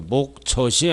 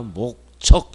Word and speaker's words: 목적: 목젖이 아니야. 목적. 이렇게 발음 똑바로 해야 돼.